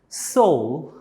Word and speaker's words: soul: Soul, not soil. Soul. Okay. And when you pronounce the sound of S, it should be soul.